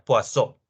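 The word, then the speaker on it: Poisson: la distribución de poison se escribe poison como si fuera veneno en inglés más o menos pero al ser francés se pronuncia poisso la distribución de paso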